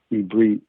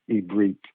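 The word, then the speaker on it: עברית: Yes, that's Ibrit, as it's pronounced in its original vernacular. Ibrit is how you say Hebrew, and it's also Aramaic.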